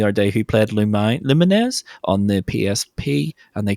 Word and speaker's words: Lumines: next week's game is Luminesz Remastered or Lumines. I call it Lumines because I'm right. It's how you pronounce it. It's not lumines.